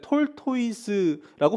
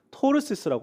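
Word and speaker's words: tortoise: 이거 발음 잘 하셔야 되는데 톨토이스라고 발음하는 애들도 물론 있지만 일반적으로는 토르세스라고 합니다. 가운데 T가 묵음입니다.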